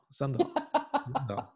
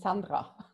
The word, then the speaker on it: Sandra: Am I pronouncing Sandra correctly or is it Sandra? Sandra. Well, it depends on the language, but in Austria, it's Sandra.